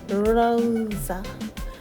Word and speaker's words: Rosa: introduced another alter ego, Rosa, pronounced with an exaggerated R. So it sounds like Rosa, to commemorate her December 2010 appearance on Lopez Tonight.